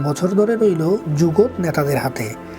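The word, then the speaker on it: זוגות: 5 বছর ধরে রইল যুগত নেতাদের হাতে। যুগত শব্দের হিব্রুতে অর্থ হচ্ছে জোড়া। আশকেনাজি ইহুদিরা উচ্চারণ করেন যুগোস।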